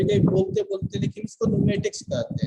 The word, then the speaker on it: pneumatic: देखिए इसे न्यूमेटिक्स कहते हैं या न्यूमेटिक कहते हैं। पी न्यूमेटिक नहीं कहते, पी साइलेंट रहता है इसमें।